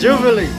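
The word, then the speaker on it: živeli: Jubilee. Jubilee. Jubilee. Jubilee. That's how they say it in Serbia. Jubilee means cheers.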